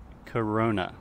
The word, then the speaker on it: Corona: First, corona. Corona. So give this your best gringo accent.